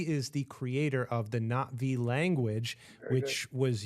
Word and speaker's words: Na'vi: It's Navi with the apostrophe is that little glottal stop there.